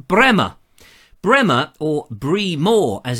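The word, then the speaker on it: Breamore: in a place called Bremer Bremer or Bream or as it's spelt be Rea Mor is in Hampshire but I believe it's supposed to be pronounced Bremer I double checked on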